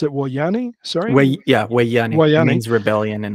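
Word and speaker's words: Woyane: You pronounce it Wayani? Sorry? Wayani.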